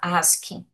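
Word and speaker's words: ASCII: Então é e em inglês a pronúncia que a gente fala é ask. Ótimo, gente. Então isso aqui a gente fala ask.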